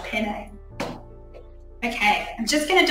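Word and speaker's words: panne: of feel to it it's called penne p-a-n-n-e i think i'm saying it correctly i say it like pasta penne okay i'm just going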